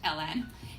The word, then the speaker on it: Alen: My name is Alen. It's pronounced Ellen, and I look forward to earning your vote.